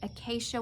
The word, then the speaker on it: acacia: Acacia wood. Somebody on here told me how to say it. Capital A, capital K, sh, as in Brady Bunch. So acacia.